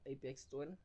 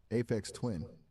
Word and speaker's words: Aphex Twin: I've had time you for said Apex 21, Apex Twin, right? Aphex Twin. Yes, Aphex Twin. It's spelled Aphex Twin.